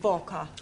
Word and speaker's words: Walker: Walker. Walker. What? W is pronounced W. Your employer's name is Walker.